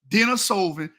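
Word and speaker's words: Denisovan: Denosovven genes which you brought up you cannot pronounce correctly. Denosovven it's negto that's how you say it.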